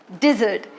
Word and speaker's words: dessert: is incomplete without dessert dessert here stress is on d dessert that means sweet